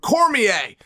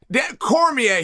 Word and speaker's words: Cormier: Apparently, he's like an equal partner in it, which I didn't know, but thank you for giving his it's pronounced Cormier. Cormier, he was a UFC fighter at one time.